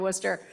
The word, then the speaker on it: Worcester: Prior to leading JPL, Leshin was president of Worcester Polytechnic Institute, served as Rensselaer Polytechnic Institute School of Science dean, and held senior executive positions at NASA.